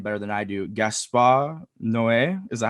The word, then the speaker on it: Gaspar Noé: Gaspar Noé. Is that how you say it? Gaspar Noé, yeah.